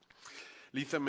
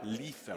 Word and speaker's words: Lethem: Lethem. If you think of lethal, you'll never.